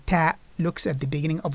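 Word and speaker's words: ت: Then we have the letter Ta. Ta. And Ta is very close to the one that we use in English, as in 10.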